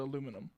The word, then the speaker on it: aluminum: So it's like aluminium as opposed to aluminum.